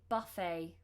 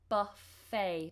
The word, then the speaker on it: buffet: If it's a more relaxed party, then there might be a buffet. A buffet. Buffet, not buffet. Buffet. Almost like it's spelt with an A-Y at the end.